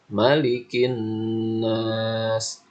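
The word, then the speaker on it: مَلِكِ النَّاسِ: Bacanya malikin nas. Nah, maknya dibaca panjang. Itu kurang tepat ya. Yang benar itu dibacanya pendek. Malikin nas.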